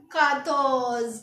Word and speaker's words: quatorze: तो 14 को हम लिखेंगे QUATORZE और इसकी प्रोनाउंसिएशन लिखेंगे हम KATORZ और इसको क्या बोलेंगे हम? काथोज। क्या बोलेंगे?